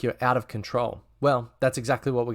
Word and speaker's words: Qntrl: its own product and it's now called control and that's spelled q& TRL so in today's video